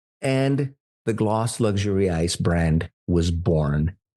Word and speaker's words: Gläce: I will make it so that those that know understand that it's pronounced gloss like lip gloss and not gloss or gloss or whatever."